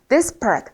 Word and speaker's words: disparate: 그래서 발음은 disparate, 앞에가 강세예요. 뒤에 강세가 들어가 있어서 disparate, 그래서 다른 겁니다.